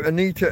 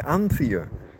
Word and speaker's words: Anita: I talked about this I said your name wrong I called you anthia for some reason which is really weird because I've never met an anthia in my life I know